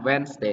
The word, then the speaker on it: Wednesday: week Monday Tuesday Wednesday អាន Wednesday តែពីរព្យាង្គណា two syllable តែពីរព្យាង្គឯង Wednesday អត់អាន Wednesday ទេ